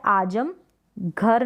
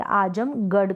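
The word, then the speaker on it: आज़मगढ़: किया जाता है जिंदगी यह आज़म घर नहीं पढ़ेंगे आज़म गढ़ करके इसको प्रोनाउंस करेंगे अली गढ़ चंडीगढ़ इस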